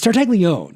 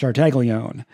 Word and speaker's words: Tartaglione: It's Tartaglione. It's not Tartaglione or Tartaglione or whatever. It's just Tartaglione. I heard him pronounce his own name.